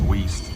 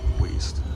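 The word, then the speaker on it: Weaste: Next station is Weast now, not here. It's not pronounced Waste, it's Weast. Weast.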